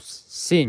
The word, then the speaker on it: sinh: The derivative, and the first one is derivative of sinh x. We pronounce this as sinh or hyperbolic sinh, hyperbolic sine x. You can pronounce this as 2 ways.